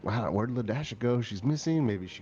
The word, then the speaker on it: Ladasha: a younger sister, and her name is Ladasha, and it's spelled L-A, the symbol dash A. The symbol dash. So La dash and Ladasha. So it looked like yeah.